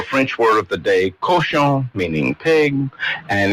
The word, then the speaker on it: cochon: So why do so many of us say couchon instead of cochon? Well, it just depends on the dialect that you're trying. Is it bad pronunciation, or is it couchon in some places and cochon in others? It's cochon. It's cochon. It's cochon. It's just lazy English speakers.